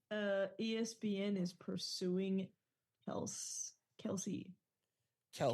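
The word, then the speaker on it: Kelce: D look at this Google says Kelsey no it's kelse the dad because kelse is in my lexicon for no other reason that his dad came out and said it's actually y say it wrong this whole time it's kelse I literally just I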